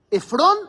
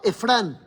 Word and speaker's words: Efrón: Efrón, Efrán. Todo mal. Todo pronunciado pésimo.